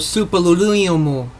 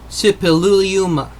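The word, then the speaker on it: Suppiluliuma: course of walls erected during the reign of superlululumu like some pronounce it the first 1344 to 1322 bc for those that didn't catch the name it is spelt s-u-p-p-i-l-u-l-i-u-m-a sipi luluma the inner city covered an area of some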